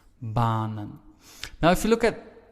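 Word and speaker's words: banen: So the first vowel, in this case A, is pronounced long, and that is why we say baanen.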